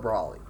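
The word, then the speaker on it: Broly: Me personally, I call it Brawly, and I think that is actually the proper way you pronounce it.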